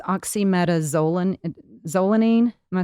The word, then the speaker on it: oxymetazoline: it's a smooth muscle relaxer i'm going to butcher the um the name it's oxymetazoline zolanine am i saying that correctly oxymetazole yeah